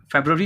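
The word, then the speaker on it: February: फेब्रुवरी होता है, ये फरवरी नहीं होता, pronunciation should be very clear.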